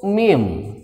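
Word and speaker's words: ميم: nah ini namanya huruf mim hati-hati bukan huruf mah bukan tapi huruf mim namanya huruf mim setelah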